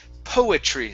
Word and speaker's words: poetry: Okay, our next word here is poetry. So here we do want to pronounce the O and the E.